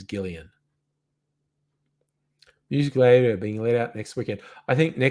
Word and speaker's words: Gillian: was it gillian anderson did i say jillian and you're saying it's gillian i thought it was i thought she pronounced it jillian i am willing to be uh corrected and it's gillian musica being laid out